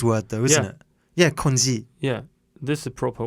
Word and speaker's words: congee: Congee. Yes, it's a How do you pronounce? Cantonese word though, isn't it? Yeah, konji.